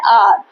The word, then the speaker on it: hour: जब आर बोला जा रहा है तो ये क्या है, आपका वोवल साउंड हो गया। क्या हुआ, वोवल, ठीक है। तो यहाँ पे अपने आप आ जाएगा आपको समझ में कि वोवल है तो हमको तो एन लगाना है, NR।